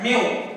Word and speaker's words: mu: It is pronounced as mu, M-E-W, and it is actually 10 to the power minus 6 fraction of 1, or I can say meter for length.